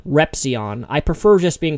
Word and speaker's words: Repzion: And then Zion, the Z is silent, so it's actually not Repzion, it's Repzion, Repzion.